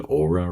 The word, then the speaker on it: Oura: Do you know the Aura ring? It's spelled Oura.